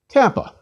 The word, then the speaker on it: kappa: Kappa. Kappa is equivalent to K and pronounced like the K in kill. Please repeat, kappa, k. Lambda.